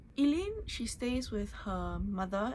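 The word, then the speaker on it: Aoileann: The main character, her name is Elen. It's spelled um the Irish way. So, a O L E E A N. Elaine, she stays with her mother and her grandmother.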